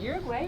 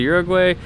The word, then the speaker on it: Uruguay: to customs so that we can cross into Uruguay. Is it Uruguay or Uruguay?